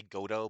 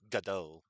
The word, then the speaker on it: Godot: You can also say Godot, but I believe it's actually pronounced Godot. Like ga and then do.